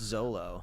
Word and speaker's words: Xolo: It's XOLO. I believe it's just Zolo.